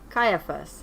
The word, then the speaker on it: Caiaphas: Was it Peter, Pilate, Herod, or I'm going to get the pronunciation of this one to make sure we're giving everybody a fair shot. Caiaphas.